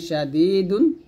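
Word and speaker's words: شَدِيد: তানবিনের পর শিন আযাবুন শাদীদুন। এখানে ওয়াকফের অবস্থায় কলকলার হরফ দাল আসছে, তো এখানে যদি থামি আমরা কলকলা করব এরকম ইন্নাল্লাযীনা কাফারু বিআয়াতিল্লাহি লাহুম আযাবুন শাদীদ।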